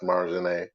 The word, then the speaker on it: Marjane: Check out her page, Marjane, or just Marjane, pronounced Marjane.